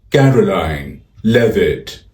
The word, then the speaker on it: Karoline Leavitt: Her name is pronounced Karoline Leavitt. Karoline Leavitt. Car-line, lev-it.